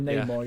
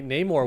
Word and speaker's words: Namor: Namor, yeah. It's actually pronounced Namor. One of the first superheroes, actually.